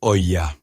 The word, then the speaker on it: olla: plus tard reconnue mondialement sous le terme espagnol hola, prononcé hoya.